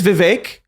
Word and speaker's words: Vivek: It is Vivek. He has made clear it rhymes with cake.